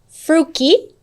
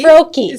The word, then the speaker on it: Froelke: Fruki, Yeah, did I say it right? Froki. Froki.